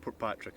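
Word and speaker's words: Portpatrick: Port Patrick. Yeah, I say a wee bit quicker because to me it's one word, but Port Patrick I call Patrick.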